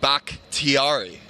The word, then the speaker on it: Bakhtiari: And I also want the proper pronunciation. That's the big guy out of Colorado, David Bakhtiari.